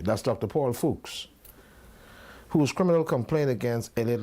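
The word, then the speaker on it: Fuchs: spiritual advisor that's German how do you pronounce that fols okay fuks okay that's Dr Paul fols whose criminal complaint against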